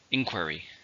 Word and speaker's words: inquiry: syllables are an inquiry there are three stress on the first inquiry we receive some inquiries